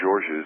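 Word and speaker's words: Georges: to pronounce it right it's George's it's not George it's hurricane George's its Alabama and it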